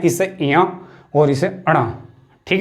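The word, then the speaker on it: ञ: इनका उच्चारण स्थान जो सही उच्चारण है क ख ग घ अंगा, च छ ज झ इया, तो इसे हम बोलते हैं इया।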